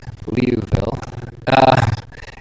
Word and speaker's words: Liouville: The regular Sturm-liouville problem, everybody mispronounces it as far as I can tell, Liouville, is the SLODE given